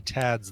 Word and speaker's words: Thad: Is that pronounced Tad? Yeah. Oh, I didn't know that. I don't know Well, any I mean, Vlads. they can choose how they pronounce it, but I've always thought that THAD is still pronounced Tad.